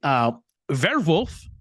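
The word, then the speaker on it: Werwolf: A darker piece of the legacy, Werewolf, which is the German pronunciation, was the code name for one of Hitler's headquarters, which is located in now Ukraine.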